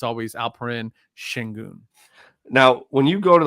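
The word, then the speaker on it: Şengün: The H is silent and non-existent in his name. So it's Shengun, because it's something with the E. The E has like one of those little funky little things up at the top of it that makes. Oh, the E's got the sign to pronounce the H.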